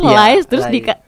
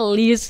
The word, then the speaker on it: Lies: produser film pendek live oh jadi bacanya Lies ya bener dong harusnya di awal udah bacanya bener live terus ada yang bilang bacanya list gitu Jadi bisa live bisa list Ya terserah gitu oke oke nah boleh